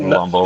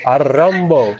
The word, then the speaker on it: Antetokounmpo: Giannis Antetokounmpo. Remember that name, and don't be Larry King, whatever, and pronounce No, it not Lumbo. it's Giannis Arambo.